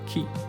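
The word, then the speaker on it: 鬼: the character appears in the kanji where it's pronounced Keith however it's widely accepted that the demons referred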